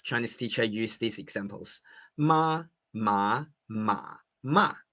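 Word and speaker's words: 妈妈: Say for example you call you mom uh naturally standard mandaring is should be mama. Okay mama. But what about if you pronounced you you face your mom and said mama mama is hemp hemp or mama horse.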